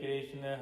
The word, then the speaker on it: कृष्ण: दिया गया है इसीलिए कहे कृष्ण है कृष्ण है कृष्णा नहीं कृष्णा द्रौपदी का नाम है क्योंकि वह अग्नि से